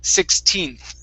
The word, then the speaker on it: 16th: the last one okay make sure to pronounce the n on 16th okay if not it sounds like 60th okay so it's 16th try that 16th very